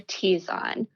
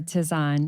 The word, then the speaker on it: tisane: That said, anything else that can be steeped in hot water is referred to as an herbal tea or a tisane.